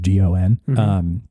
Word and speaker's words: Gon: The main thrust at the beginning is like the main character Gon, I think is how you say it. It's just Gon.